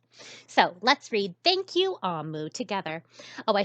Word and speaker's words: Omu: And in that language, this word is pronounced Amu.